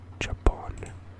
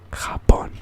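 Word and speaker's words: Japón: above it and n i'm pretty sure it's not pronounced jump on let me look it up pronunciation okay it's not giving me anything hop on okay there we go it's called hop on i got it right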